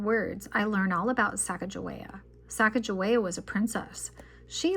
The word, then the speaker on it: Sacagawea: She has She has a fancy name, Sacagawea. You say it like this, Sacagawea.